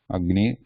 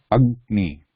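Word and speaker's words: अग्नि: Agni, also same. Ag. You ga is half, then ni. Agni.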